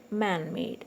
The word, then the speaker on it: man-made: Man-made, this is an adjective, so it's on made.